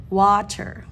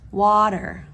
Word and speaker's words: water: but English speakers say water water because the rule makes it so because the t is in between those vowels we pronounce the T as a du sound um here are the